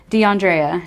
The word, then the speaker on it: DeAndrea: of names to pronounce deandrea she said i said it right so we're good with that deandrea freeman is from